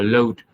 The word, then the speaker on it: loathe: Hoặc là I loathe, cái từ này đọc là loathe, đọc là L O A T H N, thì phát âm là load, y chang như là cái từ mà tại hàng á mọi người, L O A D, phát âm y chang, I load.